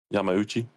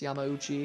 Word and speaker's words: Yamauchi: How do so Boz, and then how do I pronounce the other pitcher? Yamachi? Yamauchi. Yeah, that's right, Marcus. Yamauchi.